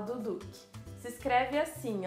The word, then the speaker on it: Duduch: Eu acho que se fala Duduque.